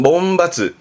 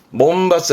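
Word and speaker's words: 門閥: 벌이야 문이 있으니까이 문벌이 뭐냐면 이게 문 벌인데 발음은 몸 바스 몸 바스 합니다 문 벌이라는 건 그까 집안 내내 그까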